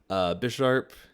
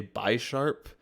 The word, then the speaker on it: Bisharp: Bisharp evolves from Pawniard, so they're like two chess pieces. But if you don't know that, you might say Bisharp, like two sharps, because it has two sharp claws.